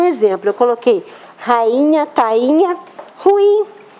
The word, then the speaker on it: ruim: ruim é é ruim ruim não tem acento por isso talvez que muita gente pronuncie ruim a onde gente não compra não aqui não é ruim mas tá errado qual a pronúncia ruim mas aí o cara não vê a senta ele manda um oi mesmo porque que não tem acento ali naquele ato é por causa do emitem uma nasal aqui por causa do